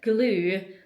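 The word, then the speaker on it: Gloue: It's G L O U E. If that's not pronounced glue, then I don't know what is.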